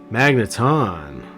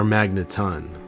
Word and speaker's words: Magneton: Magneton, or Magneton, comment below.